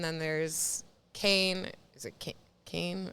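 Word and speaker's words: Cannes: there's Kane is ITA Kane I think is how you're supposed to say it Oh I thought it was can's I'm just kidding I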